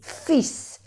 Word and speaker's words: fils: Y aquí se dice le fils, no se pronuncia la L. Porque si decimos fil, fil en francés es un hilo, un fil, un hilo. Entonces, no hay que pronunciar la L, perdón, pero la S sí, fils, mon fils, le fils, ma fille.